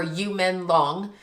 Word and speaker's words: Yu Menglong: Alanu as we're saying it or you men long as it's pronounced in his language.